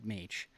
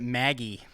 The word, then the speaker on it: Mage: Thanks for pronouncing mage correctly.